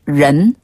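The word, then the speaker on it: 人: 적자를 중국어로라고 읽어요 그리고 사람을 런 런네 사람 인자를 런으로 발음해서 적은 디디네 여기서 발 은 혀를 살짝 말아서 입천장에 달랑말랑 한번 더 디런 디런 디런 디런 그렇죠 잘 건처럼 이렇게 말아주는 거군 맞아요 권처럼네 그리고 가깝다는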